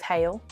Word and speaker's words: Hale: One, because kale rhymes with Hale.